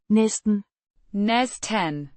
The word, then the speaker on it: næsten: N means almost or nearly pronounced nes 10 with a softer t sound.